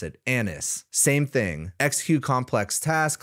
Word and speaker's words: ANUS: tools and then we have another version called Anis yes that is how you pronounce it Anis same thing execute complex tasks collaborate in multi-agent